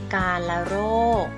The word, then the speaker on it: กาฬโรค: เคย เห็น กัน เนาะ คำ ว่า กา ละ โรค ค่ะ กาฬโรค อา กาฬโรค นะ คะ สะกด แบบ นี้ ค่ะ กอ อา อา รอ จุฬา เนาะ การ รอ โอ คอล โรค นะ คะ อ่าน ว่า กาฬโรค คำ ว่า กาฬโรค นะ